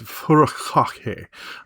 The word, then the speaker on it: furikake: Now, this stuff I'm going to pronounce weird. It's furikake. Just remember that bukkake means to cover one thing with something else.